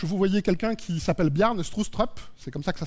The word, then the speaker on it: Bjarne Stroustrup: En bas à gauche, vous voyez quelqu'un qui s'appelle Bjarne Stroustrup, c'est comme ça que ça se prononce.